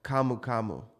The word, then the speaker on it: camu camu: in Brazil, your native country, which is called camu camu. Am I pronouncing that right?